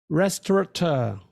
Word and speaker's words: restaurateur: here I am restaurateur let's try that again restorator so I give up what I mean is